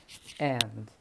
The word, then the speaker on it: and: and. اسمها إيه؟ and معناها و، يعني حاجة وحاجة. محمد and أحمد. أوكي؟ حاجة وحاجة. وخلي بالك الأمريكان لما بينطقوا and بيشيلوا الدي خالص، يعني ما بيقولش and، بيقول محمد and أحمد، ما بيقولش and.